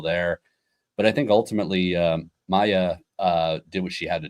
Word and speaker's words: Maja: But in our next headline, we had Maja, not pronounced Maya, Stark win the Women's U.S.